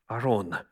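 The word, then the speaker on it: ארון: So first was an ark, and by the way, the term that's used in the original is aron. That's how it sounds in Hebrew language. The ark is aron.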